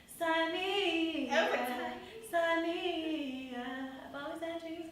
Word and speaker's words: Saaneah: No H at the beginning. No H's. Saaneah. Like that. Y'all remember Taina? I would always, when I watched it, I would be like, Saaneah, Saaneah.